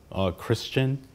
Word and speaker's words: Christian: It is the second syllable in my name. I thought your name was Chris Chin. No, it's just one flow, Christian.